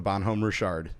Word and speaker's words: Bonhomme Richard: That's actually how you pronounce it before you laugh. No, Richard? Yeah, that's how it's Really? pronounced. The Bonhomme Richard. Really? Yeah. I just kept calling it Dick the entire time. Yeah. Well, it's French.